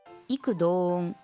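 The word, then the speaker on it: 異口同音: のピンチだ異口同音多くの人が皆口をそろえて同じことを言うこと口はく」と読むので注意です彼らは異口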